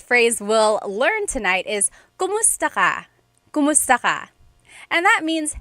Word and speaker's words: kumusta: If you hear my pronunciation and then other people when they say it, usually they say kamusta ka? kamusta ka. So it sounds like it's spelled with the letter A, K-A-M, but technically it's spelled with a K-U-M. That's like the correct spelling of it. But the pronunciation usually is kumusta ka, kumusta ka.